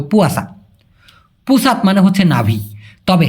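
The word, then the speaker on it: puasa: অনেকে বলে পচা। না ভাই এটা হবে পুয়াসা।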